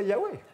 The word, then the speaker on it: Yahweh: Alors, c'est compliqué à prononcer YHWH. byari bigoye cyane gusubiramwo iri jambo vuga ngo Yawe. Alors, c'est pour ça qu'on peut dire soit Yehovah ou soit Yahweh.